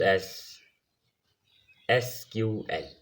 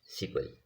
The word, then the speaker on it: SQL: structure Curie language it is come it is pronounced एस एस क्यू एल ठीक है through small call it सीक्वल ठीक है इसे सीक्वल भी कहा जाता है